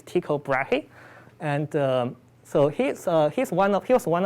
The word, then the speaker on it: Tycho Brahe: So it starts in the 16th centuries, where I believe the leftmost astronomer, I'll try to pronounce his name correctly. I believe it's Tycho Brahe, and so he was one of the leading